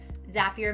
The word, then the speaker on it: Zapier: Okay, number 5 is Zapier. I always want to say Zapier, but on the bottom of the website, it says Zapier makes you happier.